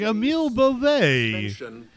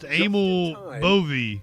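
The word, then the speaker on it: Emil Bove: I was like Emil Boion, but no, apparently that's not how it's said. It is pronounced amali for this committee to ram through this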